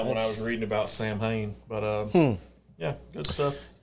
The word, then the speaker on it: Samhain: okay so during and i'm gonna pronounce this and i may be pronouncing it wrong samhain i think it's what kyle j m h you got it right okay sam haynes which is a festival that